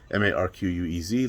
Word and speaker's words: Marquez: of marquez or marquez i'd say marquez because i'm spanish and it's pronounced spelled m-a-r-q-u-e-z like marquez so marquez stevenson out